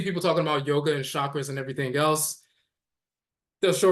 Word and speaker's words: chakra: later Shakra but is still pronounced kakra in certain dialects in India kakar comes from kakar